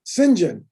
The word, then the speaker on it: Saint John: name i know that the english name saint john in england is pronounced sinjin so i wonder if